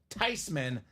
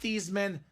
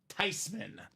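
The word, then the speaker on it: Theismann: family last name she says no it's actually pronounced tysman not thean not Theisman should be tysman so the proper pronunciation of this guy's name is actually Joe tyman now nice H Kyle Smith on Joey T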